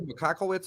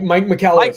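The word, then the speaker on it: Michalowicz: Andrew McCockowitz or something. I can't even pronounce it. Yeah, Mike McCallowitz.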